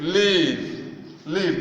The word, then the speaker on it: leave: The leave, say it, leave. The E there is silent.